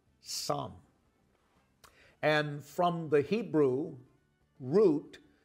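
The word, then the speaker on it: צום: Hebrew word that is spelled T-S-O-M, but is actually pronounced som. And from the Hebrew root, fasting means to cover your mouth. So the Hebrew word, T-S-O-M, som, means to cover your mouth.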